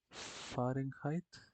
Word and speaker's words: Fahrenheit: Fahrenheit. Bueno, la verdadera forma de pronunciar esto sería Fahrenheit, porque es alemán.